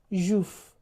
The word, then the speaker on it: juif: juif juif The f is pronounced.